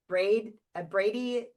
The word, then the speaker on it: bradykinesia: Bradykinesia?